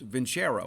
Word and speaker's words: Vincero: It's Vincero. That's how you pronounce it, Vincero.